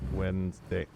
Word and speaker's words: Wednesday: Wednesday exactly when it when you go to spell it you have to say wedes day right so why don't we say it that way doesn't make no goddamn sense the N is not before the D it's after I'm sticking